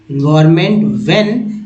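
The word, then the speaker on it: when: और सेव मैं environment व्हेन इसमें हा का उच्चारण नहीं होता है याद रखेंगे वेट बोलते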